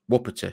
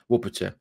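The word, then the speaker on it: Łopata: medical polish friends and it is pronounced wopita so it is Casper wupperta four-year deal is signed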